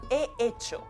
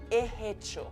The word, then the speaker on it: he hecho: Escuchad cómo esta persona pronuncia he hecho. La iglesia me gusta mucho, pero es eso otra, más grande y más bonita. Es eso. Hace la H de hecho aspirada, he hecho.